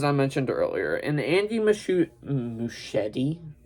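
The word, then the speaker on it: Muschietti: mentioned earlier and Andy muschetti well I did say it right machete yeah right um Andy Miss said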